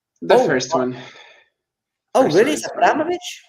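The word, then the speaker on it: Abramovich: first one oh really abovich not Abramovic Abramovic okay that's more Russian I think with the the second version okay abovich like in Russian you would put the accent I think one of the last syllables by the way all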